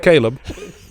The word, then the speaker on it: Caleb: It's pronounced Caleb, so get it straight.